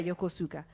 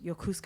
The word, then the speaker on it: Yokosuka: Small Town Yuka yeah Yokosuka and yokuska as the Americans say so the build buildings